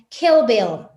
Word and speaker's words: Kill Bill: Realmente la pronunciación correcta sería Kill Bill, ¿no? ¿Por qué? Porque esta I se tiene que pronunciar entre la I y la E.